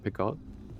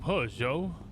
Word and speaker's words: Peugeot: But maybe it is a Picot. Is that how you pronounce it? You know, the French car? Peugeot? Picot? Oh, Peugeot.